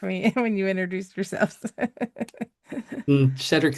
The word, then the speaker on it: Shedric: Gonna jump down to, is it Shedric? I should have announced or asked for all the name pronunciations ahead of time, but you guys can correct me when you introduce yourselves. Shedric is exactly right.